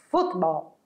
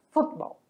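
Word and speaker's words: fútbol: é o Ball mas em espanhol a sílaba tônica muda de lugar futebol o futebol e em espanhol ele vem acentuado Então já vai ajudar você a pronunciar mais forte a sílaba que acentuado o que a gente sabe que quando vem acentuado é neste local do assento a minha sílaba tônica certo então é futebol futebol outras palavrinhas que são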